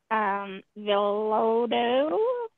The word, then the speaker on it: Villoldo: And so it's called The Shaman's Dream Oracle, and it's by Alberto Villoldo.